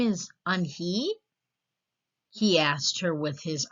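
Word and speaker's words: Unhei: Yes, it's pronounced Yoon-hae. And it means grace, Mr. Kim added. Yoon-hae, Joey said slowly, and this time perfectly.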